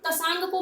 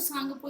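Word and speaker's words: Tsangpo: ध्यान रहे, इसको तसांगपो मत बोल देना, ठीक है। टी इसमें साइलेंट है तो सांगपो इसका नाम है, ठीक है।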